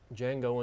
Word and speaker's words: Django: That there is Django Unchained, but the D is silent.